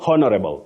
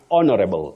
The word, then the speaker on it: honorable: so honorable don't say honorable it's honorable honorable honorable the H is silent and then you also